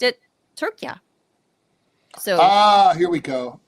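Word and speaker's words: Türkiye: we call it Turkey um but they've always pronounced it turkia so ah here we go okay so why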